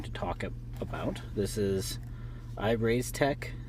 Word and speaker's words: IREIZTEC: talk about this is I've raised tech is how you pronounce this this is a dual